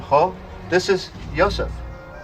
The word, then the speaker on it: Yosef: It's usually pronounced ha, but in Hellenic Hebrew it tends toward the O sound, ho. This is Yosef.